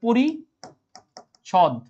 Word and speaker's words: পরিচ্ছদ: টাকে বাদ দিয়ে দেব তাহলে এটার উচ্চারণ হবে পরি ছদ প্রতিচ্ছবি তাহলে এটা কি